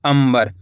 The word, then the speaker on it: अंबर: तो इसलिए अपन ने यहां पे आधा म पढ़ा है। इस तरीके से पढ़ेंगे अपन इसको अंबर। आधा मा के रूप में इसका उच्चारण करेंगे।